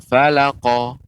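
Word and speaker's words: فلق: syarri Pengucapan untuk qalqalah qa ya, dia tidak ada jeda.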